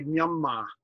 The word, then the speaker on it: Myanmar: Or Myanmar, it's really Myanmar. So they're pitching this to a British audience who would not pronounce that R.